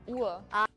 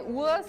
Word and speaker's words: Uhr: Uhr. Uhr. Because we have the name for watch and clock is the same in Afrikaans. It's horlosie. Horlosie or a cat, yeah. Yeah, we just say Uhr, so we Uhr.